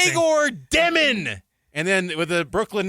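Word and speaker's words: Demin: And then Yegor's like, how to pronounce my name? Dyomen.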